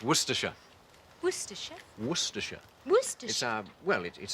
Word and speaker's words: Worcestershire: Worcestershire. Where's that? No, it's pronounced Worcestershire.